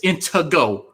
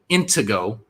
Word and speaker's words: Intego: It's Intego. Okay. People saying her fucking name wrong. Thank you, Veckel. Intego.